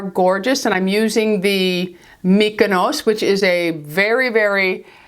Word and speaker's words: Mykonos: told me it is her husband was Greek and she said it's pronounced Mykonos so this is by